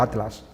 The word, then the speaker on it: Atlas: que aquí en España se pronuncia Atlas y en América se pronuncia Atlas.